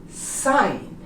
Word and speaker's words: sign: Also, for G, all of these words that end in GN, the G is also silent, such as sign, foreign, design, resign, and how about champagne? We don't pronounce the G. Sign, foreign, design, resign, and champagne. You noticed? All of the words have GN next to each other, both consonants, and the G becomes silent.